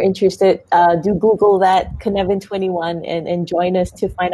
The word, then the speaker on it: Cynefin: so if you're interested uh do google that kinevin21 and join us to find out more about